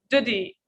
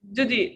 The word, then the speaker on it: duty: Duty. Duty. This is American accent. She says, duty. Duty. You can say duty. It's correct. Both are correct.